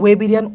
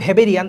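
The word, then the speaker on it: Weberian: তো এইগুলোর নাম হচ্ছে ওয়েবেরিয়ান অসিকল, ওয়েবেরিয়ান অসিকল, বাট এটা উচ্চারণ লিখছে ভেবেরিয়ান, আসলে ভেবেরিয়ান না। দেখ এটা আসলে ইংলিশে কিন্তু ওয়েবেরিয়ান অসিকল।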